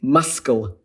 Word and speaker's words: muscle: So for instance, the sound sequence muscle, SCL, is not really permitted in English syllable structures, so instead we drop the C.